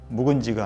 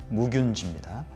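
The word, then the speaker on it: 무균쥐: 발음에 주의하셔야 됩니다. 묵은지가 아니고 무균지입니다.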